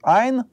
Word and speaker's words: айн: То есть "айн" у нас не произносится.